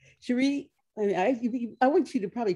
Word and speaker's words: Cherie: Cherie is the way to pronounce it.